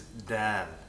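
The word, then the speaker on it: د: The pronunciation of a dal is very similar to an English D. Dal. Da. Da. It's the same thing. The point of articulation is behind the top row of the teeth, where your tongue meets your gums.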